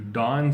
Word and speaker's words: don: so number five to dawn something is to put something on do and don not not da WN it's pronounced the same way but to dawn something